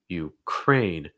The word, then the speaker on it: Ukraine: um followed by ukraine you crane and again making sure that that a sound so it's not crying it's crane crane oh we want to